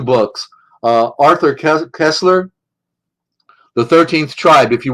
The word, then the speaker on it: Koestler: Arthur Kessler, it's spelled Koestler, Arthur, Arthur, Arthur Kessler, The 13th Tribe.